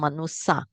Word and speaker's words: manusa: Instead of pronounce manusya, it become manusa. So SY become SS.